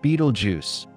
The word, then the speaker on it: Betelgeuse: Beetlejuice, pronounced Beetlejuice, Beetlejuice is no ordinary star.